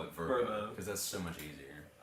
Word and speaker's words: VRBO: you seen the verb you know it's pronounced verbo yeah at the meeting they were talking about verbo yeah they were talking about travel plans for the competitive team and L she says yeah we're probably gonna huh the Pres the president like we're probably going to get this VRBO for the for the thing and we're just we just all laugh it's like I'm pretty sure it's pronounced VB like no it's not no